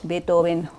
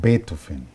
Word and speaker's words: Beethoven: Hablando de alemanes, yo dije algo así como el Beethoven Hall. Sí, está mal ¿Y dicho. Beethoven. cómo se dice en alemán? Beethoven. Beethoven. Cuando escuchen a Julio Almeida decir Beethoven, lo que él quiere decir es Beethoven.